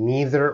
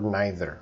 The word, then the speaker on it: neither: Either, that can be pronounced either or either, depending on your region in the world, and neither or neither.